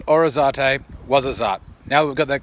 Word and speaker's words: Ouarzazate: Hey everybody, welcome to Orizate. No, it's actually pronounced Ouarzazate, not Orizate, Ouarzazate.